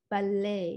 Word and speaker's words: ballet: Kalau teman-teman pernah baca tulisan ballet, kita orang Indonesia suka bilangnya ya datang ke ballet lah, datang ke ballet. It should be pronounced ballet.